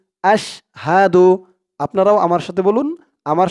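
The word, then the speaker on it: أَشْهَدُ: রাজিম বিসমিল্লাহির রাহমানির রাহিম আশহাদু হাদু হামজা শিন জবর আশ আশ হা জবর হা আশ হাহা দাল পেশ দু আশহাদু আপনারাও আমার সাথে বলুন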